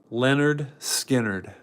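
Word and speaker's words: Lynyrd Skynyrd: album covers Leonard skinnard pronounced Leonard skinnard Leonard skinnard pronounced Leonard skinnard this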